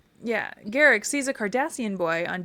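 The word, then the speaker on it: Garak: Just think Derek with a G. Yeah, I know. Garrick. Yeah, Garrick sees a Kardashian boy on Deep Space 9 who looks 30.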